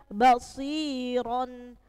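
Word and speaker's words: بَصِيرًا: r-nya dibaca te tebal yang kedua basiron basiron rnya berharakat apa fathatan fathat tanwin artinya apa rnya dibaca te tebal rumus yang kedua rumma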